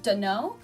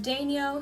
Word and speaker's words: Daigneault: I believe the French pronunciation is a little more similar to Daigneault, but my family's always pronounced it Daigneault, so that's how I pronounce it. It's a lot of silent letters in there, and that's usually the telltale sign that it is a French name.